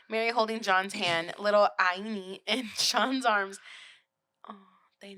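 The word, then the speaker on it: Áine: It's an A with a hyphen, or not a hyphen, with the accent. I-N-E. Ain. Ain, maybe? Yeah. Ain.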